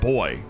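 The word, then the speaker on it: voy: It's V-O-Y is how you say it.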